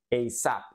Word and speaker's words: ASAP: aprevia de esta manera y se pronuncia eap eap eap por ejemplo alguien te